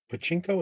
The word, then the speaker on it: Pachinko: There's a Pachinko, is how it's pronounced, that game, which is based on that